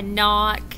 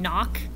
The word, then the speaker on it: knock: Yeah, knock. We're not going to read all of these words, but what letter is silent in words like no and knee and knock?